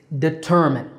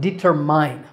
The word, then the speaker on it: determine: Next up is determine. This is not determine. There's no mine here. It's de-ter-min with a stress on the second syllable ter.